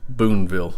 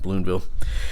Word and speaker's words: Boonville: in the earlier video this should be Boonville I think I pronounced it with an L in there balloon bill as you can see